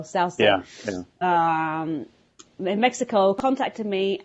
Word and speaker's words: Souza: I think they pronounce it Souza over there in Mexico, Souza.